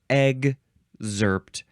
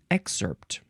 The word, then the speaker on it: excerpt: excerpt uh let's see you can say excerpt exerpt with a G and a z sound exerpt exerpt or EG zert emphasize either syllable it is spelled e ex C PT first form um I think I like to say excerpt with a a and an S sound uh this is a